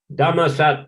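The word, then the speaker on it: ธรรมศาสตร์: It's called Thammasat University. But when you look how it's written, it says Dharma Shastra University.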